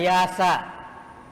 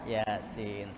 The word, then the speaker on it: Yasin: Ada yang baca Yasa. Karena kalau orang baca Iqra itu, kitab Iqra, bukan kitab Baghdadiyah, itu biasanya dia bacanya Yasa. Padahal di sini ya Yasin, surah Yasin. Wal Qur'anil Hakim innaka nal mursalin.